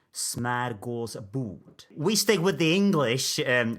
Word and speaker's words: smörgåsbord: I use the English pronunciation, but if I wanted to say this word in Swedish, where it comes from, it would be smörgåsbord.